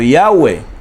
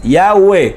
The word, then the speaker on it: Yahweh: Yod Hei Bad Hei, que se puede pronunciar como Yahweh. Las 4 letras, Yahweh, así se pronuncian.